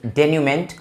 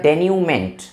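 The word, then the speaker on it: denouement: the correct pronunciation of this word is डेन्यूमेंट, और ये word इसलिए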